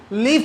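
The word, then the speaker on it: leave: लीव का मतलब छोड़ना या कई जगह जाना. Okay, I एम लीविंग फॉर my college. Okay, I एम लीविंग फॉर my home. लीव, इसको थोड़ा लंबा स्ट्रेच करना है इसको.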